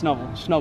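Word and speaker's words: Snubbull: I've been saying it wrong. It's Snubble.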